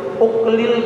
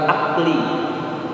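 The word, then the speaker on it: أُكْل: Kemudian yang keenam, jamaah sekalian, yang keenam itu adalah wabil uqlil katsir, dan ini bacanya pakai domah di depannya, bukan akli tapi uqli.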